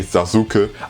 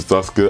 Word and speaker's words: Sasuke: because in Naruto German they say Sasuke. I don't know why, because probably they said it because of how the name is written, because they have a U, so they pronounce U, even though they should have later changed it to Sasuke.